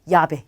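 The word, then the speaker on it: llave: 원래는 아인데 엘레가 두 번 왔기 때문에 아를 이중 모음으로 바꿔서 야베라고 하는 거예요. 얘는 열쇠를 뜻합니다. 그래서 유비야, 야베 요 두 개는 잘 기억해 두시고요.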